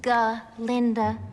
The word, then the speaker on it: Glinda: But when they go to class, their goat professor can't say her name right, and it turns out her name is actually Glinda. It is Glinda. Glinda with a G.